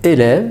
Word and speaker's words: élève: Alors déjà dans la prononciation du mot élève, ça se voit qu'il y a au début un accent aigu et ensuite il y a un accent grave. Et vous voyez bien qu'à la fin il y a un E qui ne se prononce pas.